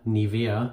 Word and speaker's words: Nivea: here Nivea man Nivea Nivea it's the German pronunciation this is a German